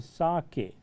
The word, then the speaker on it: sake: See the pronunciation of this word, dear children, it's a sake.